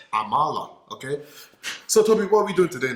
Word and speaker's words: amala: called amla amla yes is that english pronunciation for it i don't know what english is not english you know you have to change your language learn how to speak it is amala okay so toby what